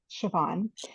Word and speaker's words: Siobhan: It's an unusual spelling, but it's just very easy to pronounce, Siobhan.